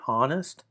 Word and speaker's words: honest: It's analogous though to like a silent H in the word honest. You see, when I say honest, I'm really what you're hearing is the word.